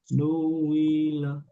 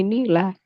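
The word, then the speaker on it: نِيلَ: Ah, Jadi Nila gitu. Nuwila. Ini aku ribetnya software ini. Nuwila. Jadi Nila. Terus jadi Nila. Nuwila. Tapi kan nggak dibaca Nuwila. Dibacanya adalah Nila.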